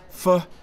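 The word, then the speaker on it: Phở: Fu is pronounced like fur with a soft R.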